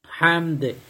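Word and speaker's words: حمد: করবেন রব্বানা লাকাল হামদ হামদ এটা ছোট্ট হা একটু চিকন করে তারপর আপনার চিমিয়ে উচ্চারণ করতে হবে এরপর হামদানীরবা মোবারকান ওই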